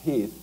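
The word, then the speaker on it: Heth: Lee's intent actually is to kind of let General Heath, it's spelled H8, but it's pronounced Heath, to do a little bit of recounting, thinking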